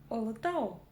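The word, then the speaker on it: Ұлытау: За основу нужно взять букву О обыкновенную, но произнести ее очень и очень коротко. И у нас получится Олотау. Олотау.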